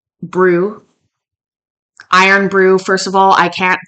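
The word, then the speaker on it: Irn-Bru: Buckley but seriously so in Scotland they had to change the rules or the spelling of iron Brew so that it wasn't confused to have real iron in it so it's spelled i-r-n-b-r-u so wow that's amazing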